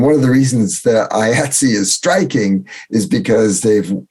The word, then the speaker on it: IATSE: reading it on the internet, IATSE, but it's pronounced IATSE.